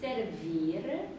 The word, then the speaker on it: servir: servir servir 네, la tua fierezza la tua fierezza